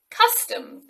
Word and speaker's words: custom: the next word is custom custom this is difficult because it has two tricky sounds the uh in the first syllable and the schwa in the second syllable many people ask me